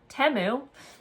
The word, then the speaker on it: Temu: I got from Temu, which I've been calling Temu this whole time, and you guys never told me I was saying it wrong. Temu.